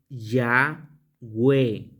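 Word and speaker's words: Yahweh: Entonces, en la otra, en la otra pronunciación, la pronunciación es Yahwe, la primera parte por la palabra aleluya, aleluya, y la segunda por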